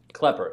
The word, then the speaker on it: Klepper: Klepper is how it's pronounced.